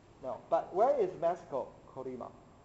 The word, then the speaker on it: Colima: Colima. Colina?